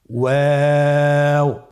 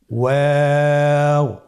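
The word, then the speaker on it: واو: আপনারা আমার সাথে বলুন ওয়াও ওয়াও। 2 ঠোঁট গোল করে মাঝখানে ফাঁক রেখে হরফটি উচ্চারণ করতে হবে। আপনারা আমার সাথে বলুন ওয়াও।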